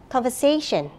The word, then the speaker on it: conversation: And the word conversation. Conversation. The third stress.